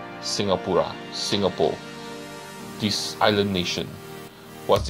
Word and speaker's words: Singapura: Singapura. This is the Malay spelling and the Malay pronunciation of Singapore. Singapura, Singapore.